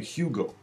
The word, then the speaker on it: Hugo: And the name Hugo, Hugo, can be Hugo. Yeah, it just kind of disappears altogether. So that's a mini lecture on badaga.